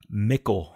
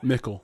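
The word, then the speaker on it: Mickle: with Michael Parks um pickle was his last name mckel mckel sorry spelled like pickle but with an M okay um ravenous from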